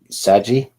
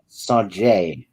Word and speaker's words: Sajay: Or it could be Saji. Saji. Yeah, I know. These Star Wars names, if you don't hear them pronounced, like on Audible. No, it's Sajay.